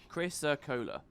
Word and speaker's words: chrysocolla: Chrysocolla. Yeah, that extra O in there. A whole syllable I was missing out.